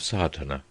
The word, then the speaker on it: Sadhana: may be added about the pronouncing of sartana the accent falls decisively on the first a which has the broad sound of the letter chapter one the relation